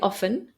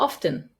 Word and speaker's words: often: words for example often you can say often or often and I know that I say both originally it was pronounced